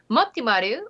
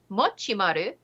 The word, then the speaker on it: Mochimaru: 317 days as of the article's penning inking matimaru or multisama as he's sometimes known usually racks